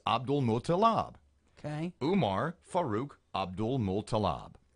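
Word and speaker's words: Abdulmutallab: So the last three syllables of his name are Mutalab. Then the first three are Abdul, so it's Abdul Mutalab.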